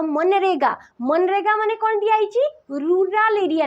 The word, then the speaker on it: मनरेगा: scheme कोन दिया जी मनरेगा eighty zeta silent है मनरेगा पढ़ा जाए हला तो एटी दिया जी